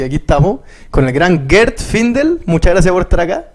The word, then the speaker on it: Gert Findel: Así que aquí estamos con el gran Gert Findel, muchas gracias por estar acá. Se pronuncia bien así mismo, muchas gracias por la invitación y bienvenido.